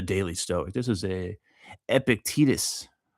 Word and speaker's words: Epictetus: This is a Epictetus. I wonder if that's how you say his name. Epictetus. Epictetus. That's got to be Epictetus. I don't know. I don't read Greek.